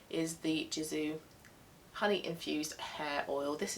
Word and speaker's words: Gisou: And the hair oil that I'm using, and I think I'm pronouncing this right, I think it is a soft G, is the Gisou honey infused hair oil.